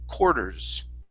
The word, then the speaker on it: quarters: Okay, now here, some people do say quarters, okay, and they pronounce an R, but in most cases, in this word, okay, we say an OR sound. We pronounce this quarters.